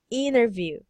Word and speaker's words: interview: you this about interview to read this word interview do you say it owner interview okay this is how you read that you will remove the sound T okay just like yes